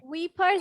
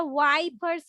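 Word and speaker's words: wipers: উইপার্স বলেছে। হ্যাঁ, উইপার্স হবে না, এটা ওয়াইপার্স হবে। হ্যাঁ, ওয়াই দিয়ে উচ্চারণ করতে হবে, ওয়াই দিয়ে, তারপরে ওয়াইপার্স। শুশ ওইখানে ও বলছিল হচ্ছে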